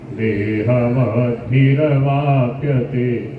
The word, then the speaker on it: देहवद्भिरवाप्यते: देहवद्भिर, रे को पूरा नहीं बोलते तो गड़बड़ हो जाएगा, रे पूरा है, रे में ए मिला हुआ है। देहवद्भिरवाप्यते, आप कोई बोलो कैसे बोलते हो इसको?